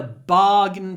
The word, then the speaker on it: bargain: know this is a bargain price be careful with pronunciation it looks like barain but it's barain why is a i n pronounced in I don't know but it is bargain it's a bargain it's